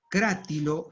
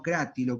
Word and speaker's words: Crátilo: lo no este que hay que pronunciarlo crátilo y perdón crátilo y no creativo como debería pronunciarse bueno éste no fíjate